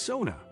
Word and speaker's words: sauna: dips in a lake the sauna pronounced Sona the first syllable rhyming with cow is a Finnish cultural